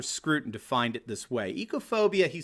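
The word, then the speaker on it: oikophobia: It's called ecophobia, right? Do you know that word? It's spelled O-I-K-O phobia. It comes from the Greek word ekos, which means house or home or household, right?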